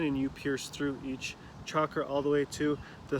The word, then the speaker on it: chakra: And now it starts to talk about the chakras, which I'm very much into, chakra tree yoga, right?